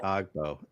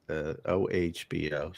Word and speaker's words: Ogbo: It's not Ogbo. Evidently, it's OHBO. So what would you say, Obo?